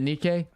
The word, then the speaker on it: Nikke: Is it Nikk? Okay. It's not Nike. It's Nikk. Okay. I knew I was saying it wrong. It's not a shoe company.